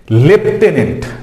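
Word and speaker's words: lieutenant: লেফটেন্যান্ট। দেখো বানানটা হচ্ছে, উচ্চারণ হচ্ছে লেফটেন্যান্ট, কিন্তু স্পেলিং লাইউটেন্যান্ট।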